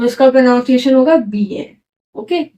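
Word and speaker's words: billet: double L ई टी तो हम I double L को प्रोनाउंस करेंगे ई ए करके तो कैसे प्रोनाउंस होगा इसका इसका प्रोनाउंस एशन होगा बी ए फ्रेंच में क्या जनरली क्या होता है जो भी लास्ट वर्ड होता है ना वो कभी प्रोना उसको हम प्रोनाउंस नहीं करते तो यहां पे वैसे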